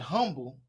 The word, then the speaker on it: Humble: You're coming from Humble High School, where you were the associate head coach, offensive coordinator, and recruiting coordinator. At Humble, you helped. I want the humble. It's the H is silent. Humble.